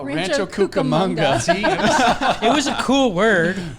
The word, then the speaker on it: Rancho Cucamonga: or isn't that where it was the kookabunga no rancho cucamonga it was a cool